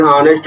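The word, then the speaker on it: honest: एिफेंट इसी तरह एन ऑनेस्ट मैन an hour power यहां एच साइलेंट है इसलिए यहां पर एन लगेगा ऑनेस्ट यहां पे साइलेंट होता है।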